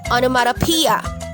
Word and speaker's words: onomatopoeia: Tandaan po, ang stress ay nasa 5th syllable na P, onomatopoeia.